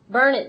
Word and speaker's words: Burnett: But isn't Burnett pronounced Burnett, like for like streets and cities and stuff around town? Yeah, one T. Burn it, darn it.